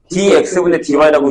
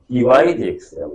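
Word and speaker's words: dy/dx: 그냥 그대로 읽으면 되는데 dx dy라고 읽으면 안 돼. 어, 알겠지? 난 분명히 얘기했어. 전 위에서 밑으로 있는 거예요. dy dx라고 있습니다.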